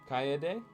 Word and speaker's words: Kaede: Kaede? Okay, so we're like pronouncing each vowel. Kaede Kaya.